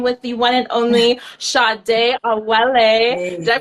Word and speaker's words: Sadé: in I am with the one and only shade a did I pronounce that right girl yeah you did yeah